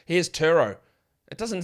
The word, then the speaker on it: Turo: These notes on this ad said Turo is pronounced T-E-R-R. Turo. So I have to say it in an American accent. If I say it in an Australian accent, here's Turo.